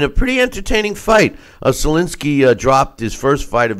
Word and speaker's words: Sulecki: to watch it and I learned that the pronunciation of which I thought was Salukis last name is Solinsky it has a silent and an S okay